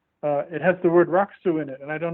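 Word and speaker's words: rakusu: yeah okay got that listen what they swallow the u the middle you oh yeah rock soup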